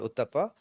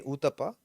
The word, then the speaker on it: Uthappa: So for me in Kunata it would be called uttapa but if I went to Kerala they'd say utapa and then if I went to Andra they'd say uttapa.